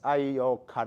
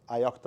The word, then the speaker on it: ioctl: I saw is that there is this ioctl, or ioctl, I don't know how to pronounce it. Ioctl is better? OK. I learned that. That's what I got corrected to yesterday.